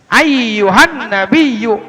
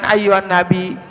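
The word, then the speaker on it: أيها النبيّ: Ayyuhan nabiyyu, ayyuhan, nah jangan ayyuhan nabi, salah, ayyuhan nabiyyu, nggak boleh ya.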